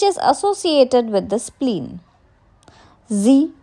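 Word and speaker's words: xi: Zi, pronounced like she, which connects the whole body.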